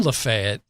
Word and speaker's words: Lafayette: Now, I've always heard it as Lafayette, but if you're from Lafayette, like many people do, they shorten it a bit. They kind of like you take a syllable or two out. So it's like Lafayette.